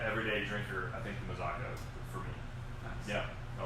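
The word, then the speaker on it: Mazzocco: Ridge versus the Mazzacco. Is that how you pronounce it?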